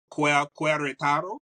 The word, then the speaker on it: Querétaro: All right, so Asha is an expat, and she's also a legal resident of Santiago de Querétaro, right? Querétaro. Querétaro.